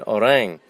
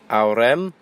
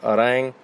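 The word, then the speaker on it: Ourém: Today I'm in Orang, which looks like, to a foreigner, Aurem, Ourem, but pronounced Orang.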